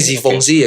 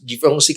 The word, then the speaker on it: Givenchy: Cuma kalau udah di atas itu ada paling, kalau kalian tahu itu yang dari Perancis tuh Givenchy, bacanya Givenchy ya kan?